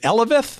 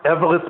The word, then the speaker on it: Eveleth: Hall of Fame Museum is in is it Eveleth, Minnesota? Is that how they pronounce it? Yeah, Eveleth, Minne- Eveleth, Minnesota, which is uh north of